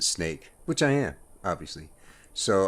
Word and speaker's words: Snaic: of each of those you could pronounce it snake which i am obviously